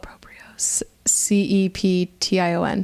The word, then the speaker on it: proprioception: it what was the word o p iio proprio c e p t i o n proprioception there you go I like it I